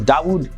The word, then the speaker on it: Dawood: he changed his name to dawood Kim and dawood is the Arabic pronunciation of the name David when it comes